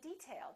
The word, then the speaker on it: detail: say detail or detail if it's a noun we say detail that's an interesting detail first syllable stress this is a hard